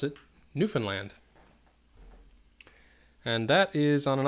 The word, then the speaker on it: Newfoundland: located in Newfoundland Canada a lot of people pronounce it Newfoundland nope I mean that's how it looks because it's Newfoundland but we pronounce it Newfoundland and that is on an island in the